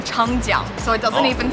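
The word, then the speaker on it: 长江: Changjiang. Changjiang. Yep, and the Jiang. Jiang? Is the first syllable in what we're eating today.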